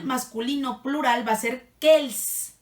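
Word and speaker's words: quels: que el que él casi todo se pronuncian igual porque no pero se escriben diferente ahí les va cuando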